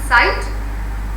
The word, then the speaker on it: sight: Like the word first word is sight, GH is silent.